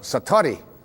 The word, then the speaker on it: Satori: it's called excuse my Japanese but it's called Satori I'd love to say that Satori SAT Ori